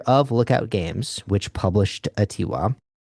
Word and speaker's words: Atiwa: Atiwa. There is a pronunciation guide for how it would be. It's like Adiwa, which is based on the Adiwa range of a rainforest.